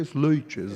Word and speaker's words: Sleitjes: Como é que se pronuncia corretamente? Sleitjes. Sleitjes. Na verdade, é Sleitjes, né? Me lembra o nome de uma cerveja.